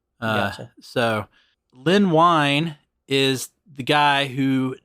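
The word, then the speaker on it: Len Wein: this show before but I think I said Lyn WN okay and I think more of more of my research has discovered is pronounced wine uh so Lyn wine is the guy who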